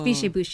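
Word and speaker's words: Biches et Bûches: I hear so many variations on how to pronounce Biche et Bush. Oh. It's Biche et Bush, you guys.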